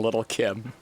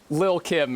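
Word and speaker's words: Lil' Kim: female rapper rediscovers being little Kim Lil Kim excuse me I'm sorry for pronouncing the t's in little I know it's Lil Kim please god dude that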